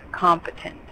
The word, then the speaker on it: competent: And then competent. We want the accent in the beginning. Competent.